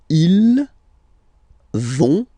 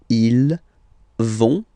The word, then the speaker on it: ils vont: So ils vont, final T not pronounced, ils vont, and then feminine form, elles vont.